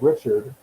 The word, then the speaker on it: Richard: It's spelled Richard, but she's French, so she put a little zhuzh on it.